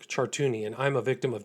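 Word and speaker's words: Chartouni: My name is Chartuni and I'm a victim of Jeffrey Epstein and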